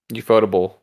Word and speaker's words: Ufotable: the original Fate and Ufotable Fate. So, also, by the way, I found out that's how you pronounce it. It's Ufotable. Okay.